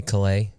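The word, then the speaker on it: Caillat: Colby Kayat. How do you say it? Colby Calais.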